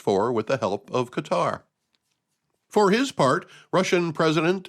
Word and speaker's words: Qatar: a deal brokered by Qatar and yes that's how I'm going to say it I always hear the talking heads on the news pronounce it cutter they put the accent on the wrong syllable if you ask me